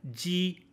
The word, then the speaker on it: ji: So G is like jeep, chi is like cheap, and X is like sh in sheep. So they're kind of like lispy sheep, like she, chi, ji, ji, chi, she.